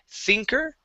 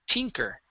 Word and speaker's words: tinker: so this word here you were saying thinker okay this is a hard t sound it is t tinker tinker good nice job okay